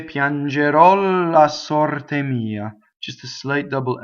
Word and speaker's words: sorte: Alright, so you would say Piangerò la sorte mia. Just a slight double L, right? Sorte, open O, rolled R, closed E.